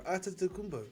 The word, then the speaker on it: Antetokounmpo: Antetokounmpo. That's what I have to say. Antetokounmpo, yeah. Me? It's not really Antetokounmpo.